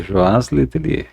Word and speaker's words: Joás Letelier: É isso mesmo a pronúncia? É isso mesmo, Joaz Letelier.